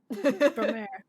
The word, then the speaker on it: Promare: Ah, Promare. Promare. I know that Promare. Promer. Excuse my Spanish pronunciation.